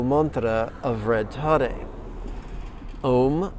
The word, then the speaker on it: om: mantra of red tare om rhymes with home ta sounds like the